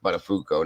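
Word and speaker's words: Buttafuoco: uh butterfuko own and his name is pronounced buttafuco not fuco or fio coco or whatever the hell they were saying they were butchering the name but whatever um her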